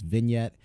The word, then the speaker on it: vignette: But it's vignette for anyone that didn't know.